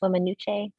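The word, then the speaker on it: Weminuche: a minute wilderness area as well it's uh pronounced women nuchae and it's um i believe it's a band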